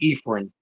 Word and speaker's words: Ephraim: So the way I like my name pronounced is Ephraim.